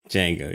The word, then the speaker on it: Django: done sounds good okay like the D is silent like it's like write a Django yeah yes it's like is it was a Django Unchained or dud Django Unchained I don't remember it just jingle right Django yeah okay so it's